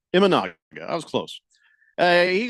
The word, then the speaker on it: Imanaga: the picture did I say his name right imaga imanaga I was close uh he goes up there